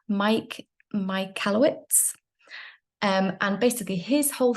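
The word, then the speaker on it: Michalowicz: first by now let me just get this pronunciation right it's Mike my kalowitz um and basically his whole theory about profit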